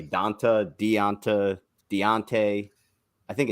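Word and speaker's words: D'Onta: I don't think it's is it deonta or danta danta Foreman that's how you pronounce it before man what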